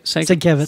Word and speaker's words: Sienkiewicz: Sienkiewicz. Sienkiewicz? She was- Sienkiewicz.